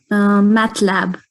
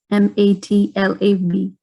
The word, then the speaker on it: MATLAB: And you said that is pronounced how? Matcha? Yes. Ma'am, so say it one more time. MATLAB, MATLAB.